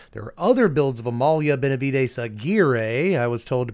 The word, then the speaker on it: Amalia Benavides Aguirre: And again, there are other builds of Amalia Benavides Aguirre, I was told to pronounce it that way.